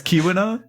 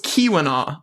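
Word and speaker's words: Keweenaw: And the double E is pronounced as an E. So, it's Kiwina. So, it's Kiwina.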